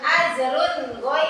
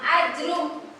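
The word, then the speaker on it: أجرٌ: yaitu ajrun giru mamnun ajrun giru mamnun dibacanya jelas ajrun enggak dibacanya ajrum tidak dibaca ajrum tidak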